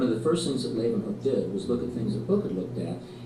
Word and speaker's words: Leeuwenhoek: L-A-Y, lay, u, then, they pronounce it with a V, Hooke, Leeuwenhoek. Anthony van Leeuwenhoek.